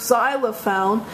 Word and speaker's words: xylophone: this is ayop pH the X in the word xylophone sounds like a consonant Z and so you use